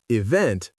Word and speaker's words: event: The correct answer is B stressed on the second syllable. hotel, event, police.